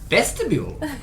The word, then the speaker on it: Vestibule: name is bartholomew vestibule it's pronounced vestibule like a vestibule but with a b because bartholomew best of